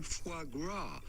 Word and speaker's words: foie gras: at how to pronounce with the typical French pronunciation foie gras here we go frog what the [ __